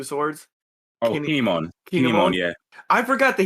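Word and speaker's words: Kin'emon: But like I forgot that I am gonna butcher his name, so I'm gonna have you pronounce it. The fire samurai with the 2 swords. Oh, Kinemon.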